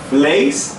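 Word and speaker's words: vlees: Ó, fleis é longo, o E. Agora fles é curto, o E.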